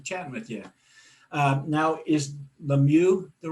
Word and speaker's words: LeMieux: Now, is LeMieux the right way to pronounce that?